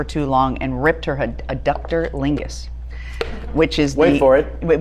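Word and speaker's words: adductor longus: this in the show I pronounced it a doctor langus and I'm here to tell you now that it was just Jane Lynch mispronouncing it it's actually a ductor Lingus but maybe it'll be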